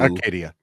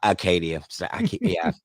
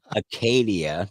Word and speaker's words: Acadia: the only one who Arcadia no R uh Acadia yeah it makes sense because yeah we grew up saying arcade so right Acadia there we go yeah um I think